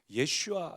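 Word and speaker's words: ישוע: 말씀은 예수 되는데 그 유대인들의 발음을 하면 예 슈아 예요 그리고 이 구약에서는 예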